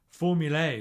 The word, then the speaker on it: formulae: Formulae, they want us to call it, pronouncing the A like in day, but no one does. It's just formula.